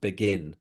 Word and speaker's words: Beguines: So actually, I think it's pronounced begin, just like begin, something begins, but it's Mhm.